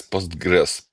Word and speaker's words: Postgres: Почему-то я постгрес говорю на о у Я тоже. Я когда знаю, что меня слушают не только пуристы, я говорю по очереди постгрес, постгресс, постгрес, постгресс, меняя туда-сюда ударение. Идиоматично, да, постгрес либо постгрес.